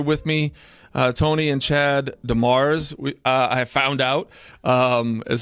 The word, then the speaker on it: Demers: I have some out-of-state guests here with me, Toni and Chad Demers. I have found out is how we pronounce it, but it is French, I understand, yeah?